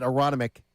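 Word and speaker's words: Aronimink: Everybody out at Aronomic, I don't pronounce the second N because I'm from Delko.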